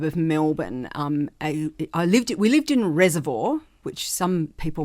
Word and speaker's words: Reservoir: We lived in Reservoir, which some people, my mother tries to tell me you pronounce it reservoir, but if you live in Reservoir, it's Reservoir. And I went to Preston Primary School.